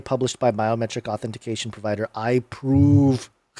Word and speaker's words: iProov: In a survey of 105 chief security officers published by biometric authentication provider iProve in January, 77% said they were concerned about the potential impact of deepfake video, audio, and images.